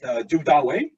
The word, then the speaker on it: Du Dawei: And if you're, in case you're wondering, this is pronounced Du Dawei, my Chinese name. Du is a 13th century Chinese poet that I adopted the surname for. Dawei here is phonetic for David.